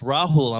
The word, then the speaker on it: Rahul: Um my name is pronounced Rahul. Not Hispanic like my boy Lil Blood over here.